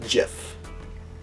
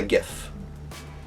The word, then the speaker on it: GIF: file says it's pronounced GIF. I have always and always will refer to it as a GIF because it's not peanut butter and it's not spelled with a J.